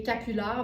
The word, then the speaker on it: capulard: Et capular, ben, c'est vraiment le croisement entre capuchon et foulard. Fait que ça s'écrit comme ça se prononce, C-A-P-U-L-A-R-D.